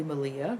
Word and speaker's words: Malia: me by the lovely malia rhymes with maria of the yarn raising